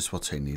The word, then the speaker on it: Eswatini: the Eastern side of South Africa and you pronounce it swatini like this s wa TI knee s wa